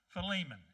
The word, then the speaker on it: Philemon: Philemon, actually, is the right way to say the word.